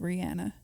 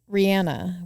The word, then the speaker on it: Rihanna: heard this week that maybe her name's pronounced Rihanna it is did you I saw those two where she confirmed that but everyone calls her Rihanna so then what do